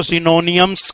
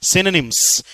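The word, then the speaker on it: synonyms: आज भी तुम इसको सिनोनियम्स कह रहे हो। इट इज नॉट सिनोनियम्स। सिनोनिम्स O silent रहेगा।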